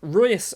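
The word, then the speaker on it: Reus: sancho on the right royus on the left i can never say royce it's royce isn't it it's basically r-o-y-c-e royce is how you'd kind of pronounce it he'll be on the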